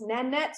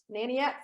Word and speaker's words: Nanette: So it's Nanette, not Naniette for me.